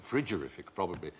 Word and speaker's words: frigorific: Should pronounce it friggerific.